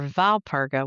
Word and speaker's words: Walpurga: Saint Walpurga, or Valpurga, which is the Germanic way to say her name, was born around the